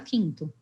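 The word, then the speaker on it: Kinto: E a gente também tem trazido para cá novos serviços de mobilidade, como é o caso da Quinto. A Quinto se escreve K-I-N-T-O.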